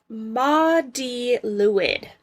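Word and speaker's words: Mari Lwyd: And Maudie Lewid is how you pronounce this one.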